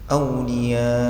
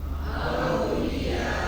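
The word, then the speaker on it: أولياء: Cara baca auliya bagian akhirnya volume suaranya diangkat sedikit. Aulia coba tirukan. Aulia kalau enggak diangkat nanti jadi misterius.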